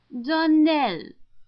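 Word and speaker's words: Donnell: would set it right darell Accent on the last syllable and St CLA on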